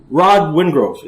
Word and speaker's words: Rod Wingrove: Fight League, and all-around good guy, my friend Rod Wingrove. That's right. That's how you pronounce it properly?